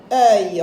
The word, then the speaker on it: œil: T, œil. Regardez ici, œil. Ici, j'ai E, suivi de IL, œil.